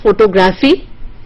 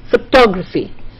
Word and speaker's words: photography: So it is not, so do you see that words with the same stem do not always keep the primary stress on the same syllable.